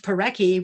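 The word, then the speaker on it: pauraque: in rio grande city with a name like peraki which rhymes with yaki i looked forward to meeting the peraki that night with garciaki we did it was nearly invisible but tireless gus picked up a peraki at midnight in his flashlight now the favorite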